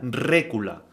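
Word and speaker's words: רְכֻלָּה: la siguiente concordancia 7404 que se pronuncia rula que significa comercio contratación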